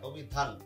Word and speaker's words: অভিধান: আমি তো এখানে অভিধানও বলছি না, অভিধান, থেমে যাচ্ছি। এখানে শুধু নয়ের উচ্চারণ হচ্ছে, নয়ের সাথে কিন্তু অটা উচ্চারণ হচ্ছে না। যেহেতু নয়ের সাথে অটা উচ্চারণ হচ্ছে না, অভিধান, থেমে গেলাম।